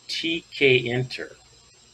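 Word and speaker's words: tkinter: let's kind of start out at the beginning here with the introduction pronounced tk enter tk interface all right that's great all right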